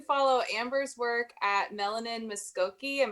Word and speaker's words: Mvskoke: So you can follow Amber's work at Melanin Muskoke, and Muskoke is spelled Mvskoke.